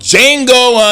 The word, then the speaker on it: Django: Hey, the film we're going to talk about today is called Django Unchained. The D is silent.